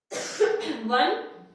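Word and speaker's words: one: ओ बेशक लिखा हुआ है बट आवाज किसकी आ रही है? वन। ओ लिखा हुआ है बट आवाज किसकी आ रही है? वन, यानी वन, है ना।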